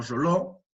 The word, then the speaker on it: Reuleaux: todas definiciones de Reuleaux, se escribe de esa manera y se pronuncia más o menos como Roló.